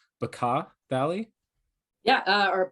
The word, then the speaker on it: Bekaa: had lost sight of, and I hope I'm pronouncing it correctly, Bekaa Valley. Yeah, or Becca Valley.